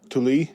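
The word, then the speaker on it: Tolui: spent to ori, I don't know how to pronounce this huh? Tuli.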